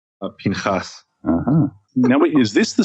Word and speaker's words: Pinchas: Have I pronounced that correctly? Pinchas.